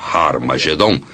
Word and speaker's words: Har Magedon: E realmente em algumas das antigas versões do Novo Testamento, escritas em grego, Armagedon tem o som aspirado no início, que significa que era pronunciada com H.